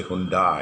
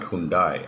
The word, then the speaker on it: Hyundai: card kundai you know they say khun dai it's not hyundai actually if you look into the original pronunciation of the korean it is okay this